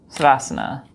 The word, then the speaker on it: Savasana: Same thing with Shavasana and Savasana, because it's spelled Savasana, but we say Shavasana. I say Shavasana.